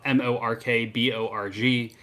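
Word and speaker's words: Mörk Borg: familiar look it up m-o-r-k-b-o-r-g it's just right we found out we were both saying it wrong the whole time there there's all sorts of different ways that people say it sometimes i'll say mork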